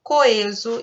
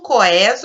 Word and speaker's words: coeso: Segundo as normas gramaticais, a gente deveria pronunciar com E aberto. Obeso, coeso, obsoleto. Mas a gente não faz essa pronúncia, né? Segundo obras, né? Segundo escritores mais antigos, a gente deveria pronunciar com E aberto. Deveria ser obeso, coeso, obsoleto. Mas a gente fala obeso, coeso, obsoleto. A gente usa o E fechadinho.